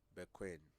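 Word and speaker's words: Bekoe: name like bed queen by queen it is spelled b-e-k-o-e no but it's pronounced by queen by queen i said no that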